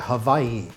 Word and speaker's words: Hawaii: Then on the 26th, I was able to go to Hawaii for the first time. All right, or like the locals say, Hawaii.